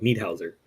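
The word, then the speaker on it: Niederhäuser: It's like need something. Need Hauser. There you go. Need Hauser. Because he's from Switzerland. But yeah, Earl, look up at his highlights.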